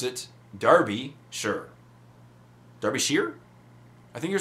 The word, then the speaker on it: Derbyshire: Stuart Painter says, Jay, and he was talking about Derbyshire, as I was saying, but he says, pronounce it Derbyshire.